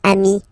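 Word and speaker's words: amis: and it's the singular remember if you want to put the plural form then you just add this final s here okay but then technically you pronounce it the same way so sing form Ami plural form you add this s but it's Ami as well okay in that case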